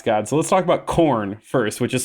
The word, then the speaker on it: Khorne: of these chaos Gods so let's talk about corn first which is spelled k-h-o-r-n-e so close man I know I